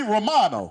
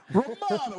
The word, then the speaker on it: Romano: Well, I think you'd probably rather just everyone stay with Romano, but It should be Romano. That's how you say it. Romano.